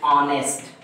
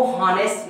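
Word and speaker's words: honest: क्या है, साइलेंट है, तो इसको हम ऐसे पढ़ेंगे ऑनेस्ट, इसको हॉनेस्ट नहीं कहते हैं, ऑनेस्ट कहते हैं।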